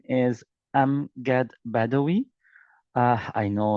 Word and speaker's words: Amgad: Am. Some guys pronounce it as I am not to be honest. Just to be honest. And angad. I am not angry.